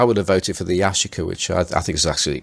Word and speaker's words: Yashica: well done just now for a pronouncing Yashica correctly Oh nailed it and I know you've told me now I'm gonna forget so I said yes you could that's supposed to Yashica yeah correct yeah yeah but I